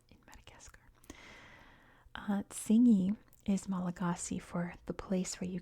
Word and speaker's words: Malagasy: So everything, including like the word Malagasy, is pronounced Malagash.